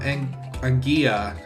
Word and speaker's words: Anguilla: So, this Skitty is going to go to Luke from Anguilla. It's either Anguilla or Anguilla. Depends on where he is. If it's pronounced as the Y. Like tortilla. Instead of a tortilla.